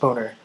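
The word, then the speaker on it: Boehner: And before we go, speaker of the house John Bader's name is still pronounced boner.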